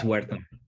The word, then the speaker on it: Huerta: Is it the H is silent, but it's Huerta.